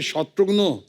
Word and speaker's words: शत्रुघ्न: मिसाल के तौर पे मेरे बंगाली फ्रेंड अभी तक मुझे कहते हैं कि अरे शत्रुग्नो कैमोनाशी शत्रुग्नो डॉक्टर नो का भाई बना दिया है।